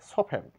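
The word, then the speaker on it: soften: তৎসঙ্গে এইচ লেটারটিও silent এটা আমরা সফটেন সফটেন বলে থাকি কিন্তু টি এর এখানে কোন সাউন্ড নেই সফেন সফেন নরম করা মর্ট গেস বন্ধী মর্ট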